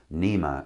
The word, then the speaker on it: NMEA: talk to the transducers it's called nmea or Nema as most of us pronounce it and most of us